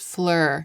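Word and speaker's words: Phlur: I came across some posts about this brand, Flur, and I just Oh, now that I've said it out loud, I get it. Flur, like Flower, like Flower in French. It's spelled P H L U R.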